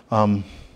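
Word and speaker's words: ἡδονή: It is, and I'm going to pronounce this word in Greek. Hedone. Hedone. What did you say? Hedon. That's right. Hedone. That's the Greek word.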